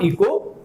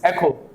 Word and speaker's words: echo: first one comes as this is echo echo this is not eco this is echo when we go to